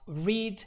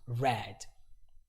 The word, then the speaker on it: read: the same way but in the present form this is pronounced read in the past form this is pronounced red this is English you